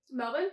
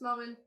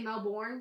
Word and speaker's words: Melbourne: like how you say that with an accent Melbourne yeah it's how it's supposed to be pronounced actually yeah it's Melbourne cuz Americans say Melbourne Melbourne and that that's that's how I know